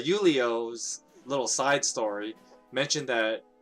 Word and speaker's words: Julio: know from julio uh julio sorry i'm used to pronouncing a name like julio but uh yulio's little side story mentioned